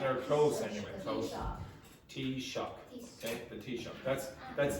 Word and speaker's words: Taoiseach: Tea shock. Okay. So this is the pronunciation, or close anyway. Close. Tea shock.